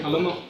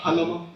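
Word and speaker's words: Jalomo: Uh Halomo. Uh say your last name again. Uh Halomo. Uh spell it for the court reporter.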